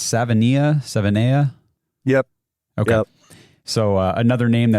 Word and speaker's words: Savaiinaea: And how did you say it's Savaiinaea?